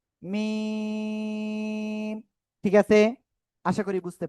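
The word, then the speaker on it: م: করবেন, এই যে অক্ষরটা, এই অক্ষরটা দুই ঠোঁটের বাইরের অংশ শুকনো জায়গা থেকে উচ্চারিত হবে 4 আলিফ টানিয়া। কয় আলিফ? 4 আলিফ টানিয়া উচ্চারণ করতে হবে। মিম।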